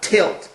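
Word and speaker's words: TLT: the terrestrial Liberation trust or tilt as it's pronounced Kone runs into some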